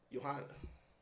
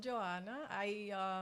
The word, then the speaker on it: Johanna: So I'm Joanna. So it's not Johanna. It's how you say it? Well, in English is Johanna, Uh-huh. but in Spanish is Joanna. Okay. Whichever way you want to say. Without the age.